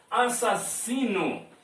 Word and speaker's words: assassino: Assassino. Você fala assim, ó. Se, pega o in. Este neu. Assassino. Viu? Assassino. Esse N aqui pronuncia. No. Pronuncia o N aqui.